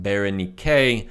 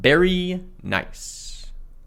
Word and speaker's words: Berenike: the existence of a Berenike. Note 7. In an effort to save myself some audio pain, at some point in the future that name is pronounced Berenike, not Berry Nice.